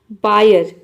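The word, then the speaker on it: buyer: बायर, बायर means होता है खरीदार।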